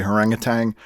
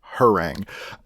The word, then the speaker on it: Harangue: I keep wanting to say Harangatang. That's not the name of his album. It's Harangue.